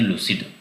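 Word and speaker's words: lucid: Pronunciation होता है इसका लूसिड, स्पष्ट समझने में आसान.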